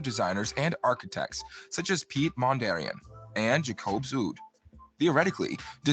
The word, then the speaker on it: Piet Mondrian: Piet Mondrian is spelled Pietmondrian, not Mondarian. So I have OCD, and these guys, between the two of them, pronounce his last name like 5 different ways.